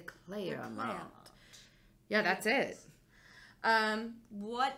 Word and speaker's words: Clermont: the Clermont the clam it's multiple syllables it's not just two you can't just make Clermont it's not the Clermont it's the Claire around yeah that's it um